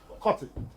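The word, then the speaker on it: Kotte: Kotti. Jayawardenepura. You understand? Sri Jayawardenepura Kotti. Kotti. It's Kotti. Not Kotti.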